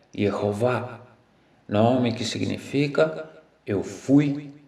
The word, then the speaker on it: Jeová: Mas, recentemente, em manuscritos muito antigos de sacerdotes judeus, tornou-se conhecida a pronúncia original exata do nome próprio de Deus, a qual é Jeová, nome que significa eu fui, sou e vou mostrar ser.